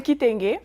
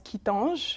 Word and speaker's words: Kitenge: Alors, c'est quoi la bonne prononciation? C'est Kitenge. Kitenge. Il y a plusieurs personnes qui le prononcent Kitange.